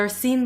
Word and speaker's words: Arsène: who like speaks French is it arene because I still want to say Aron but I'll go with what Watson's pronunciation is so arene Lupen have pledge to